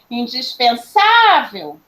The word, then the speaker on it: indispensável: a sílaba tônica porque se eu chamá-la eu vou falar assim ó indispensável vocês percebe como é